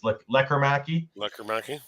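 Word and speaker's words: Lekkerimäki: Jonathan Lekkerimaki, as I've now been told to say it by by the media. There's no Lekkerimaki, it's Lekkerimaki.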